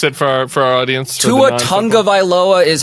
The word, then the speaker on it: Tua Tagovailoa: Tua Tagovailoa is how you should. Tua Tagovailoa is also acceptable. Tua Tagovailoa, whatever. Get in the continental sort of just zone of the name.